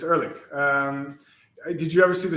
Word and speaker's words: Ehrlich: So it will be Ehrlich. Yeah, that's how you pronounce it. Yeah, it's Ehrlich.